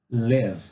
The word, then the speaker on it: live: Escolhemos o verbo live. Pronúncia, pessoal, não é li, é le. Bem curto, tá?